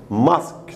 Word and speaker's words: mosque: mosque تلفظ mosque مو mosque use. أوكي mosque بس لأن يو سايلنت هنا.